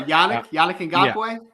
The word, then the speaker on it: Yannick Ngakoue: Oh, Yannick Ngakoue? Yeah, there you go. He's got a hamstring. Say it with me. Yannick Ngakoue.